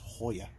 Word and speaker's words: Joya: on both sides yeah but in Spanish it's the JS H so it's Hoya back seat nice dude